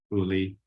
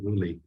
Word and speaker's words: Uli: He and his wife, Anna Wies, had 3 children, Peter, Uli, and Anneli. I have been told that the first names ending with an Li or Ly, pronounced Lee, often occurs during childhood.